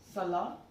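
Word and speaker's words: cela: So Sala, Cerci, and Sir.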